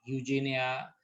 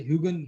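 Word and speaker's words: Huygens: बट I don't know, कुछ लोगों को अलग अलग तरीके से भी सुना है बोलते हुए, ह्यूजेनिया या ह्यूगन करके बोलते हैं, लेकिन इसका सही प्रोनाउंसिएशन तो है ना, वैसे ह्यूगन ह्यूगन ही है, मतलब मैंने नेट पे भी देखा था।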